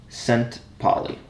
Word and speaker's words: Szentpaly: Yeah, so my name is just pronounced with the Z silent, so it's Szentpaly. Oh